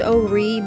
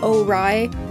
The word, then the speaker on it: Ori: The prime example of this is my old baby girl Ori, not pronounced Ori, but Ori.